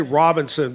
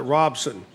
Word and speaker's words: Robinson: And I know in so many people, I actually used to live in Robinson, but you know, you say Robinson, but locals call it Robson. I live in Robson.